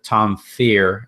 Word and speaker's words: Tom Fear: I thought it's kind of ironic, actually, that this LeBron stuff that blew up, shouts to Tom Fear, as he likes to remind me, that's how you pronounce his name.